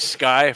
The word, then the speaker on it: SCCY: it's spelled SCCY Sky Firearms?